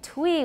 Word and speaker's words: Twi: Recall the pronunciation of y in French words such as vit, then try to pronounce the name of one of the dialects of Akan. All right, twi we've been saying, but actually it looks like it should be twi.